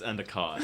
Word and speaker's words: Endicott: nigg hello but did i say your last name wrong it's endicott any comment i always say it wrong okay